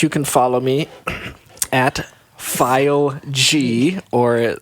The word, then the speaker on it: Fileg: But you can follow me at File G, or how do you As I like to say, say Fileg. Fileg. It's spelled Fileg. F-I-L-E-G. Fileg.